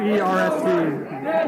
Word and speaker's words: Duerst: How do you say that? Duerst. Just remember, Durst is the worst.